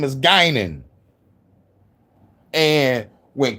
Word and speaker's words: Guinan: It's Gynan. And you got to say it like Bard.